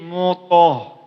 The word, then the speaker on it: mutahharah: Hati-hati, di sini huruf to. to di situ ialah berarti tebalkan lagi dia. Jangan mutah, tapi mutoh, mutoh.